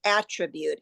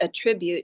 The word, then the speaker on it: attribute: And in America, when you have a noun, you say attribute instead attribute. You put the stress on the Ah, first yes, yes.